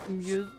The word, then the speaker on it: mjød: And it is mead, not weed, which is pronounced mjød in Denmark.